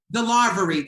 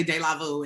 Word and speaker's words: DeLarverie: DeLarverie, thank you, because I always want to say De La Vu, and that's not what it is at all.